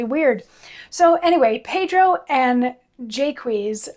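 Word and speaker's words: Jaques: so anyway pedro and jaquez i'm presuming is how it's supposed to be pronounced given the the meter of the lines that include his name pedro and jaquise are two of hieronymous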